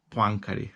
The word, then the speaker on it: Poincaré: Bueno, que me parece que el francés original es Henri Poincaré. Poincaré, así es como se pronuncia, pero nosotros lo vamos a pronunciar tal y como se escribe.